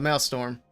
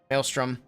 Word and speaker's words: Maelstrom: The Maelstrom. Maelstrom.